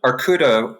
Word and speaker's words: Arkouda: Arkouda, which is the Greek word for bear, it's spelled Arkouda, is an open source framework for